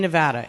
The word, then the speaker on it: Nevada: Am I saying Nevada right, by the way? Is it Nevada? Nevada. Which one? We're saying it right? Nevada. Okay, got it. Nevada. Got it. It's like bagel, Nevada. It's Nevada, right?